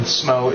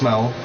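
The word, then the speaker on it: Smough: And before anyone tries to correct me, I did look it up, and Smo is the proper way to pronounce it.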